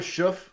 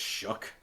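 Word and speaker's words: Shough: Tyler Schuff, or I think it's pronounced Shuck. Yeah. Even though there's a G and an H at the end.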